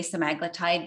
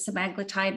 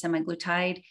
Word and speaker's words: semaglutide: on cementide or semi-glutite I'm going to say some aglatide because any doctor that's an expert in this field pronounces it some magnetite versus semi-glutide so just it comes out easier for me because I've decided to adopt it that way so however you say